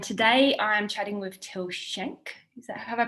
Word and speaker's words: Till Schenk: sports dietitian and today i am chatting with till shank is that have i pronounced your last name right that's pretty damn